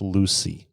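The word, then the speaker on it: Lucea: our listeners you said Lucy is that Lu uy or is there a different spelling to that yeah it's spelled Lu U CA and it's pronounced Lucy okay and that's where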